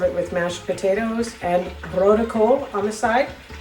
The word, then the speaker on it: rode kool: with mashed potatoes and vertical on the side. Uh, vertical is red cabbage, but uh for Americans, the way it's spelled is road cool.